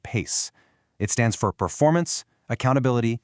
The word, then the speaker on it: PAICE: That's P A I C pronounced PACE.